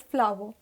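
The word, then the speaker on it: flour: is also pronounced as flower so f l o w e r c and f l o u r both are pronounced as flower okay next we have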